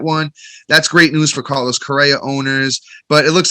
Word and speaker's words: Carlos Correa: Carlos Correa.